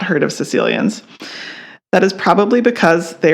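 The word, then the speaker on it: caecilian: Legend is the world's most elusive amphibian the Sicilian ah all right sounds like a person from but that's spelled sure does I'm thinking of Princess Bride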